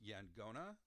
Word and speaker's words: Yaqona: you do this, but instead of a Q sound, it's a G sound, so Yangona. So sometimes you'll see it spelled Yaqona, and sometimes Angona. So the Q is an NG sound, Yangona.